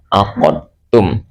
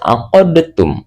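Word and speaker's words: عقدتم: Tulisannya adalah aqadtum. Aqadum. Tidak boleh aqodtum.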